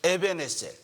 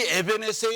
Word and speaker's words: 에벤에셀: 발음이 이게 히브리 발음인데 처음에 연습도 안 했는데 정확한 발음들을 하시네요. 에벤에셀. 이 에벤에셀의 하나님에 대해서 우리 알기